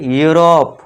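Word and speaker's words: Europe: फिर 9th देखिए, EU को U से पढ़ें। अब देखिए EU स्टार्टिंग में आ गया तो इसे क्या है, U से साउंड देना है। इसे क्या पढ़ेंगे, यूरोप, यूलॉजी।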